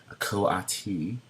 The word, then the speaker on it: coati: this animal which is a make sure I pronounce it correctly it's a coati which is basically a jungle version of a